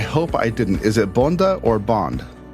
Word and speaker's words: Bonde: If I could live without Bond, as cool as he is, but I would prefer to eat. Yeah. But Bonde is the Danish pronunciation. Bonde.